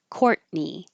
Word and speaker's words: Courtney: hard heartedness hard heartedness courtne this is another T that you won't hear you just hold it there and you're ready for the n courtne courtne and that's